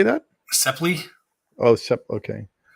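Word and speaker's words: Sapele: Sepley.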